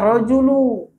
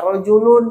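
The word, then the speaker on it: رَجُلُ: Nah panggilannya apa? Rojulu. Mabni ala dhammi, wajib, nggak boleh ya rojulun, nggak boleh ya rojulan, apalagi nggak boleh ya rojulu.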